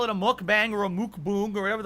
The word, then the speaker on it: mukbang: It's a Korean term. It's pronounced really? mukbang.